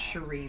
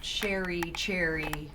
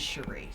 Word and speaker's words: Cherie: It is pronounced Cherie, though. Cherie, I'm so sorry. That's not a problem. Start that over. That's okay, because I've been called Cherry, but it is Cherie.